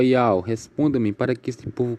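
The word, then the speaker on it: יהוה: Que se lê Iau no transliterado.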